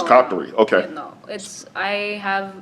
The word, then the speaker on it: Qatari: how do you say it, Qatarian? Qatarian. Yeah, I guess citizen. probably, yeah, What's your yeah. citizenship? Qatari, yeah, it's called Qatari. Do you have dual citizenship? Oh, it's No. Qatari.